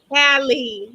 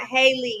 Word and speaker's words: Hallie: Hallie, not Haley.